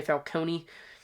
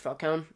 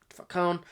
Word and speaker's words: Falcone: Um there's multiple times where they in pronounce names wrong because they say Falcone. Uh which it's it's wrong. It's Falconee. Falconee.